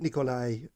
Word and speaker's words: Nicoli: So you do pronounce it Nikolai. Yeah.